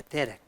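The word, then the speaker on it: דֶּרֶךְ: 예, 데렉. 요게 이제 영어로는 D 택이에요. D. 발음 D 그대로. 점 하나 찍으면 이거 D 그대로예요. 데렉. 데렉 이런 거죠.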